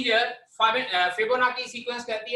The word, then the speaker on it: Fibonacci: लेकिन इसको पढ़ने के वक्त हम लोग इस तरह से पढ़ते हैं, NACHI. पढ़ने के वक्त हम लोग इसको फिबोनाची इस तरह से पढ़ते हैं, बट it's spellings are FIBONACCI.